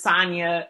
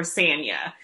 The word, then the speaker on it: Sanya: had in the beginning trying to figure out if it's sonya or or sanya and i think depending on where you are they pronounce it differently okay so how does